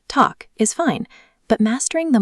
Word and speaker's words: tack: The basic talk, pronounced talk, is fine, but mastering the melodic 3-word pronunciation of tack så mycket pays significant dividends in how locals receive you.